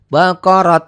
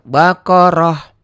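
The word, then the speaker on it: بقرة: Baqarat. Jangan Baqarat ya. Baqarah.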